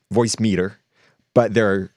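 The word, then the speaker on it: Voicemeeter: You can get Voice Meter, and I say it like that because it's Voice Meter, but it's MEETER is the spelling of it.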